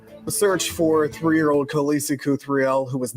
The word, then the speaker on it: Cuthriell: Okay, that's how you pronounce her last name, Cuthriell. Okay. I would have said Cuthriell, so I'm glad I didn't try to say it again.